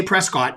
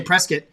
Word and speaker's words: Prescott: Can't say Prescott. You got to say Prescott. Prescott, Arizona.